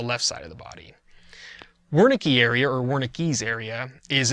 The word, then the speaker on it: Wernicke: lobe, and it's called Wernicke's area, named after the doctor who discovered it. Wernicke would probably be a better pronunciation.